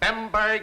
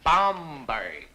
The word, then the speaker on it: Bomberg: than fail this course my name is bomberg it is not bomberg it is not bber it is not bimber it is bomberg you'll all do yourselves a great favor by not mispronouncing my name if anyone here is